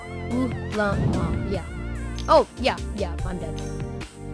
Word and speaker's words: Ulamog: Ulamog.